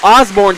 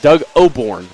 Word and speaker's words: Oborn: slip and fall oh osbourne can't go anywhere and it's only two r two yards on there oh it's doug oborn i wanna correct myself there i've been pronouncing his name wrong i apologize so doug